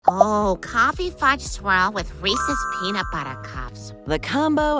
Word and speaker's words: Reese's: just mentioning the name Reese's makes Mal's water with the side of their legendary peanut butter cups but the name wasn't just a sharp marketing idea that happened to rhyme with pieces HB Reese was a real